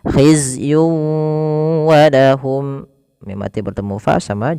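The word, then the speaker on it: خِزْيٌ وَلَهُمْ: Masuk kan di sini ada tanwin berfal yun ketemu dengan wau. Maka cara membacanya masukkan tanwin kepada huruf wau. Tidak lagi hizyun walahum tapi langsung wau. Khizyun walahum.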